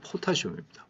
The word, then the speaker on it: 포타슘: 옛날에 칼륨이라고 많이 그랬는데, 그건 독일어식 발음이고, 영어 발음으로는 포타슘입니다. 포타슘. K, 포타슘입니다.